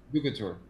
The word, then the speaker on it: DUCATUR: Sorry, I'm going to pronounce it wrong. DUCATUR.